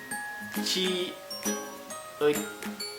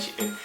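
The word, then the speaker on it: 치읓: Nah, yang itu dibacanya ci ut. Ah iya benar ci ut. Jadi CH gitu loh dibacanya guys. Nah, kalau yang ini dibacanya itu jiut. Jadi pakai J bukan pakai C.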